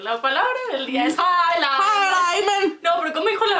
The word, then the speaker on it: Heiligman: H-E-I-L-I-G Man, M-A-N. Heiligman. Es que es Dutch, dice.